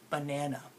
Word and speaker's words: banana: that there's three right well in banana do you hear how the first sound is kind of lazy but the first syllable but banana I don't have to do much effort to say the buck part right because the vowel